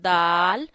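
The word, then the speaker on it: دال: This is dal, and ta and dal have same pronunciation. It means you have to touch your tip of the tongue to the roots of upper front teeth and read dal.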